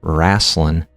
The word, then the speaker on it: wrestling: So, since we're talking about wrestling, wrestling is pronounced wrasslin in the South in America. So not South America, but in America, the South.